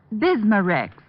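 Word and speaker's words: Bisma-Rex: have to remember that bismar Rex is that how you say it that's right ma'am b i s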